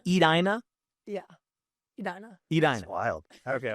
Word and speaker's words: Edina: I should be saying Edina.